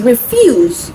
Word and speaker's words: refuse: So when you change it or you shift the stress from the first syllable to the second syllable, it becomes refuse, and that becomes a verb.